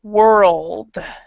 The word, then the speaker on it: world: over and this is world so you need to actually pronounce the d if you can the rld D it's all three together world so your your tongue